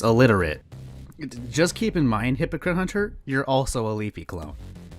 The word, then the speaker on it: Hypocrite Hunter: I believe my name is Hypocrite Hunter and not Hunter.